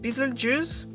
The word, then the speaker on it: Betelgeuse: I'm sorry, this is how it's pronounced, Betelgeuse. There's a G in it, juice. So it's not juice like fruit juice.